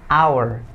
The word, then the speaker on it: hour: Jadi cukup bacanya hour. It's an hour. 1 jam. It's an hour, bukan hour. Walaupun ada kata H di sana, tapi hanya nggak dibaca, tapi disilentkan, jadi hour.